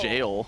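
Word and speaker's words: gaol: Is it pronounced Gowl Cage? No, it's listen, okay. The next time we see it, I'm pretty sure it's like G-A-O-L. I think it's jail. I think it's supposed to be jail.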